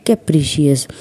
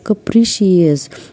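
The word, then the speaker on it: capricious: बोलतोय काहीतरी काही तर म्हणे कपिशियस तिथे येतो म्हणतो कप्री नाही ग कप्रीशियस तर तिला ते प्रोनन्सशन करताच येत नसतं तो तिला खूप वेळा सांगत असतो की कपिशियस आणि ती म्हणत असते कपशियस आता त्यानंतर ईश्वरी म्हणते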